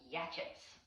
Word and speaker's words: Yachats: And Yachats, for all y'all not in Oregon, if you look at the word, it looks like Yachats, Yachats, but it's pronounced Yachats, loosely after the original Native American tribe that used to live